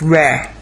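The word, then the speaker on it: רע: So this word is pronounced Reh. Reh, Now, it means the evil one, as we went through before.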